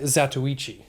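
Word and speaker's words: Zatoichi: blind swordsman oh and i know how it's pronounced it's uh zatsuichi oh nice yeah it's good pronunciation i had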